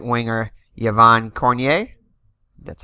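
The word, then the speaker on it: Cournoyer: center Henry Richard and the right winger Yvan cornier that's how you pronounce it on the defenseman left defenses Thierry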